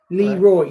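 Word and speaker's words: Lee-Roy: he's doing he's doing leroy to leave i can't pronounce it atalifo um lee roy so lee hyphen roy not leroy okay lee hyphen roy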